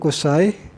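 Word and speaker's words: قصي: Cara baca Qusay ini dengan dhammah qaf, ku gitu kan, fathah shad dan patah shad al-muhmalah.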